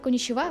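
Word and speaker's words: こんにちは: там є ха ну в херагані Воно читається як ха але в конічва вона звучит ва і ви такі А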